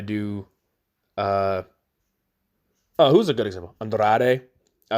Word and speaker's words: Andrade: Andrade. I always try and roll the R's in Andrade.